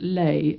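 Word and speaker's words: ley: The word lei is spelled L E Y. Chlay, burn, lay land. And if anything is built on lay lines, it's prone to electrical, magnetic, paranormal forces.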